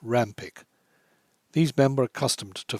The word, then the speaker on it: Rawnpike: voice abraham heracles and josh rawnpike pronounced rampik these men were accustomed